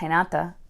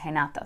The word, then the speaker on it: Renata: Portuguese, at least, is Renata. So that's what I call her. At any rate, our main character, I'm going to go with Renata, because in Spanish, it would be an R sound.